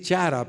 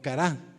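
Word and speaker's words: χαρά: cara así se pronuncia Se podría decir chara pero realmente la pronunciación es cara o cará verdad cará que quiere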